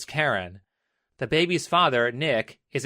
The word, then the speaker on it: Keren: Keren spells her name with an E instead of an A, but nonetheless pronounces it as Keren.